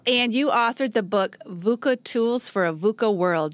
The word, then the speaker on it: VUCA: So sometimes people even stumble over VUSA, And, Yeah. So it is VUCA, which sounds harsh.